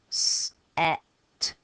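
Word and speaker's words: sept: pumping air air no seven is another strange one I don't know why but it's got a P here in the middle of a word because we're going to finish with the T that is silent and seven is even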